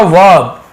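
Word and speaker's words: verb: वर्ब ऐसे बोलते हैं, वर्ब लिखा हुआ है लेकिन आर थोड़ा सा साइलेंट होता है, वर्ब ऐसे बोलते हैं।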